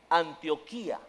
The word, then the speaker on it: Antioquía: Antioquía, acento en la I.